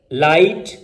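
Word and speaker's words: light: जैसे थॉट, देखें टी से पहले GH आ रहा है तो प्रोनाउंस नहीं हो रहा। थ्रू, लाइट, माइट, राइट, यहां पर GH ये साइलेंट है।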